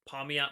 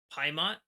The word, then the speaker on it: Pamiat': Also, I'm used to saying Paimat. I've been saying that for years. I realize that's not the correct pronunciation, so I will try and be correct on this video.